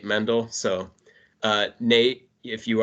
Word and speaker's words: Mendel: mispronouncing names so uh I think Nate Mendel I said rather than just Nate mendle so uh Nate if